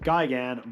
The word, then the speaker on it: Gigan: the chainsaw hands and I know some of you want me to pronounce it Gyan but it'll always be Gan to me so deal with it